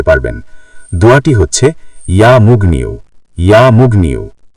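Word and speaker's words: يا مغني: ইয়া মুগনিউ। উচ্চারণ ইয়া মুগনিউ।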